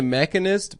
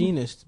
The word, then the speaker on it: The Machinist: He made the Mechanist before he did Batman. Is that how you Begins. pronounce it? Machinist, bitch.